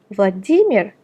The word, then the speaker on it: Vladimir: For example, Vladimir, where the stress is on I on the first name, which becomes Vladimirovich, and the stress is still the same on I in the patronymic.